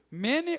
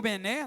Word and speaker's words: Mene: Mene ou mené, tá gente? Tem gente que fala mené, mené, tequel e passim.